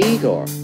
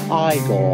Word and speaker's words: Igor: on no it's pronounced Frankenstein you must be eigor now it's pronounced iore GP of the losing radio put the candle